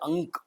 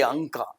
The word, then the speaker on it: Ank: quarterly magazine called as Ank. It's a Marathi name, figures, Yeah, Ank. Ank. So we spell it A-N-K, Anka. People call it Anka. So since A-N-K would be Ank, it was founded by,